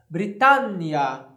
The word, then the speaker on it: Britannia: dessa pronúncia aqui eu nós temos uma consoante dupla nós aumentamos o tempo dessa pronúncia aqui Britânia nós vamos vemos Britânia Britânia ou coisa parecida nós fizemos Britânia coloco é Europa este britannia coco e na Europa